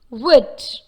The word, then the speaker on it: would: half, come, should, could, would. That is, though we see the letter L in these words, there is no L sound in these words. The L sound is silent.